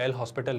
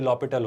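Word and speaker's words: L'Hôpital: हैं ना इसे एक्चुअली इसमें ह साइलेंट होता है तो इसे आप पढ़ते हो लपेटा ले लिए एल हॉस्पिटल नहीं होता है ये लो हॉस्पिटल होता है है ना मतलब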